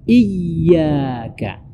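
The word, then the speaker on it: إِيَّاكَ: Jadi fokusnya di iyyaka wa iyyaka. Jadi dibaca mesti ditekan, ya, karena di situ ada tasdid di huruf ya-nya.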